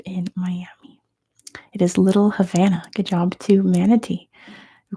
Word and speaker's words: Havana: Number one, Havana has more people of what occupation per person than anywhere else in the world? Also, Havana is the US pronunciation. I know it's Havana, but here we say Havana and it is doctors.